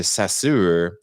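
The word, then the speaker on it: Saussure: death of ferdinand de sassoor which is titled after a french linguist and rhymes with his name and rhymes his name with closure bulldozer and classic motown songwriting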